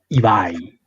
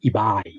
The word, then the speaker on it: Ibai: Well, it's a Basque word, so I think the correct way of pronouncing it would be Ibai, like with a long A, Ibai.